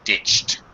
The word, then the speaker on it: ditched: be careful uh CH the CH sound is an unvoiced sound all unvoiced sounds in the past tense with e d e are pronounced as a t so ditched watched okay okay um